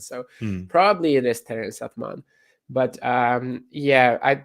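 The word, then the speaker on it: Atmane: may maybe I'm just maybe that's the English pronunciation I'm complet like you know the E should be more or less silent in French the the the the last vowels are very um often or not even vowels actually just the last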